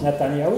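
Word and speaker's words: Netanyahou: s'appelle la tania où on sait très bien ça se prononce natanyahou ça veut dire il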